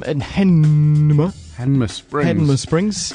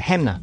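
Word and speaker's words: Hanmer Springs: In Hanma Springs. We all say it wrong. We do. It's got everyone go Hamna. Yeah. There's no ham.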